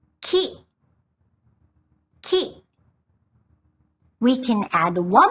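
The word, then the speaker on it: 木: By itself, we pronounce it ki, which means tree. Ki.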